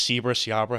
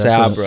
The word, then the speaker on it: Sabra: I don't know if it's Seabra. How do you say that? Yeah, that's Sabra. Sabra.